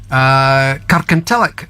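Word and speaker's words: Kirkintilloch: called custom sir ah Kirk until ik yes can tell ik as it's pronounced or locally yeah is that anywhere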